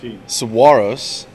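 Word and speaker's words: Saguaros: Tucson player coach Robbie Medell comments on the importance of every game that remains after correcting this video journalist's pronunciation of Tucson's team name. Saguaro's.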